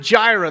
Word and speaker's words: Jireh: It's the word Jireh. That's how it's pronounced, for those of you that had questions on how to say it.